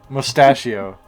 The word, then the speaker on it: Mustachio: Mustachio. Like pistachio.